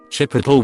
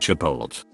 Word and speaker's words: Chipotle: Chipotle when pronounced Chipotle. The T comes before the L.